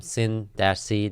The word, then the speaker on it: Cyn-C: so right here we're on the website um sin c dot io sin chronicles and it's spelled c-y-n uh and of course they start